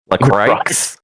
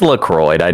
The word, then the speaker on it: LaCroix: Recrox. It's LaCroix. I know how I know how you're supposed to pronounce it because I am French Canadian myself.